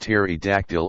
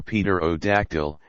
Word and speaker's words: pterodactyl: a native of ireland its name being pronounced terry dactyl or peter o dactyl as the man pronouncing it may chance to have heard it spoken or seen it printed dejanae the breakfast of